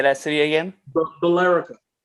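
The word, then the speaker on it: Billerica: they do that yeah it's bill and erica put together his filerica but apparently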